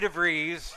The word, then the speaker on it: DeVries: help of trustee treasurer Vickie DeVries rhymes with cheese they've reached out to